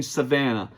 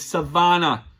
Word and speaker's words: Savannah: And you kept on saying Savannah, Savannah, Savannah. It's Savannah. Get it right, dude. She is a professional boxer.